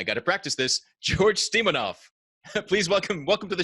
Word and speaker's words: Stoimenov: you why don't you say your full name Stewie minim yeah man it's like you've got a you